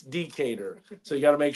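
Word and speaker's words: Decatur: too all this time I've never enunciated the first syllable decator that's how you say it right that's that's what she told me so Josh remember that is not deater it's decator so you got to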